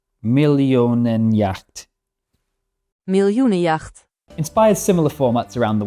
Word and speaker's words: Miljoenenjacht: Do they say the J like yeah? I think they do. Millionenjacht. Miljoenenjacht.